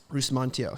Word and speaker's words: Rusmantijo: it it's all good how do you pronounce it bruce montio so i'm chinese indonesian